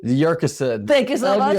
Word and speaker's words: Yurcisin: Yurcisin. Thank you so much. Yurcisin.